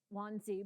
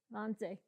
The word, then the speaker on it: Wannsee: suburb of, all right, my English pronounces it Wannsee, but you said it much better. Wannsee.